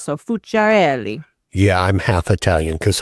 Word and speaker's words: Fuciarelli: If they try to add extra syllables or whatever, I say if you shake your hand, it helps. So fereli.